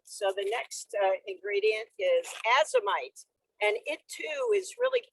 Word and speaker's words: Azomite: Right, and that's spelled AZOMITE, azomite.